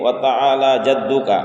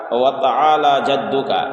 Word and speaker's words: وتعالی جدک: کی غلطی ہوتی ہے، وتعالی جدک، وتعالی جدک، یعنی لام میں کھڑا زبر ہے تو کھڑا زبر کو ایک الف کے برابر کھینچ کر پڑھا جاتا ہے، وَتَعَالَى وَتَعَالَى جَدُّكَ، اور